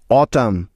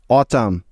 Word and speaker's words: autumn: অটাম, AUTUMN, অটাম।